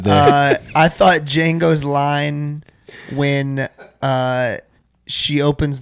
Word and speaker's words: Django: Django or no sorry D J A N G O the D is silent.